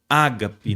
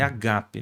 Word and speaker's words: agape: divino é o amor ágape, né? Primeiro que a pronúncia não é ágape, mas é agape, né?